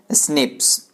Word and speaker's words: SNPs: Single nucleotide polymorphism यानी SNPS। उसको pronounce किया जाता है कैसे, स्निप्स।